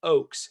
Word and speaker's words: Ochs: say the word oakes now i have a weird last name so it's german it's kind of weird it's pronounced o-a-k-s even though it's spelled o-c-h-s if i click this